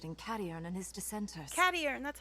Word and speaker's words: Cadiern: Cadiern, that's how you It's pronounce his simple, name.